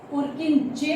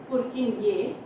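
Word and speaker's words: Purkyně: Later on पुरकिनये, सी it was पुरकिनजे pronounce करते हैं. Actually the pronunciation is पुरकिनये.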